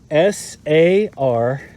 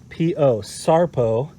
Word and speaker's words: Sarpo: Now, it's spelled S-A-R-P-O, sarpo.